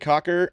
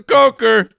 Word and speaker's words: Coker: end spot he has Jaylen Cocker at or is it CER that's CER that's a Coker Boston Boston Boston to